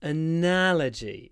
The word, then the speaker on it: analogy: analia it's an interesting analogy oh voice typing didn't work try again it's an interesting analogy so the stress is on the N analogy an analogy analogy there's